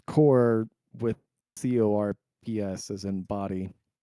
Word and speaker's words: Corps: Yeah, it's core with CORPS as in body, but most people pronounce it as core.